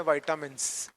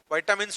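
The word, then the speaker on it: vitamins: इनको हम बोलते हैं वाइटामिन्स। प्रोनाउंसिएशन पे मत जाइएगा, जिसको जैसे अच्छा लगे बोल सकता है, लेकिन राइट प्रोनाउंसिएशन विटामिन्स होता है और इसको हम नॉर्मल भाषा में विटामिन्स बोलते हैं, ठीक।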